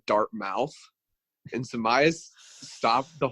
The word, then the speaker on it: Dartmouth: one or two people read it as like dart mouths and in my head I was like it's pronounced Dartmouth and I was like proud of